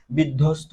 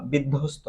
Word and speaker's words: বিধ্বস্ত: করলে আমরা বুঝতে পারব বিধ্বস্ত কি বললাম বিধ্বস্ত বিধ্বস্ত যখন আমরা উচ্চারণ করি তখন কিন্তু আমরা বফলাটাকে কি করতেছি না উচ্চারণ করতেছি না তাহলে এখানে লুপ পেয়েছি